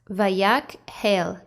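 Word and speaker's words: Vayakhel: word the name of our torah portion is pronounced vayak hail next we have the name moshe to all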